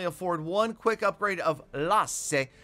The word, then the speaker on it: Lasse: one quick upgrade of Lasse. That is the Finnish pronunciation of the Lassie pet right there, but let's all call it Lasse and pretend that we're in Helsinki together.